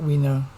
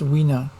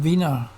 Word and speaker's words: Wiener: It was him that told me that he liked his name pronounced Wiener. I know some people say you should call him Wiener, but he apparently pronounced his name Wiener.